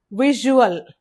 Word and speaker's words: visual: Word stress is on the first syllable that is wish, visual, vision, visible.